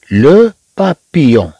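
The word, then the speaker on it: papillon: لو بابيون يون يون، اذا هذه تنطق يون.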